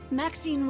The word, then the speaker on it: Maxine: yourself the varieties Maxine rhymes with Queen after all and dearest